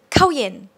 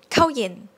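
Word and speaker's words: ข้าวเย็น: the first syllable right when we say in conversation we don't really say we say kauyen kauyen kauyen so it's jordan sound like to enter kanye another example be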